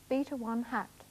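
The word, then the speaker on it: β̂₁: We usually pronounce it beta 1 hat.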